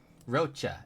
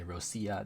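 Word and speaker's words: Roccia: Um, Roachcha, and yes, that's how you say her name. People say Rosia. No, her name is Rocha.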